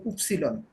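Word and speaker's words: Ypsilon: হ্যাঁ ভালো করে মুখস্থ করতে হবে একদম, এটা কোনো উচ্চারণ মিল নাই কিন্তু। তারপর ইক্স পারবেন, এই যে তারপর উপসিলন, এই যে উপসিলন।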